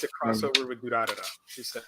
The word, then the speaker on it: Durarara: I thought it was introduced to me, and I never considered it's Durarara.